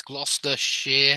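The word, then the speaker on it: Gloucestershire: that it's Worcester gler Shear is like this gluster Shear I think that's how you spell it um gloss yeah warik sh exactly you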